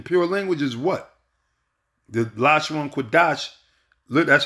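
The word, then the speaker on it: לשון קודש: The Lashon Kodash, that's how you pronounce it, which means the holy tongue.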